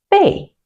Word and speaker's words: 贝: It is this component pronounced bay.